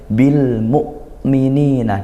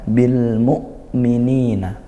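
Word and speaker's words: بِالْمُؤْمِنِينَ: Maka kita latih bil mukminina ditekan seolah berhenti suaranya karena nekan bil mukminina tidak perlu dialirkan itu syiddahnya hamzah ya.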